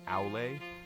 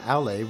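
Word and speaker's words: Aulë: In the Silmarillion, one of the minor gods is named Aule, like with an E with the 2 dots over it.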